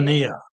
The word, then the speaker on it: Nania: Nania.